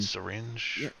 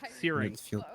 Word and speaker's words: Searing: Searing. Searing, thank you. Oh, so that's what you do to them So it's stages. like earring. So it's like earring, but searing.